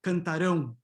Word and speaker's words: cantarão: Notice that it's this, phonetically it's the same, right? They are both the same pronunciation. The only difference is stressed, right? In the future, it's stressed, cantarão, cantarão, and in the others, it is unstressed, okay? Cantam, cantavam, cantaram, okay?